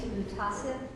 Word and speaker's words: MUHTASIB: Can somebody help me with the pronunciations? I'd use MUHTASIB.